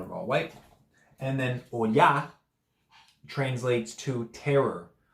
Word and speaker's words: Oya: And Oya.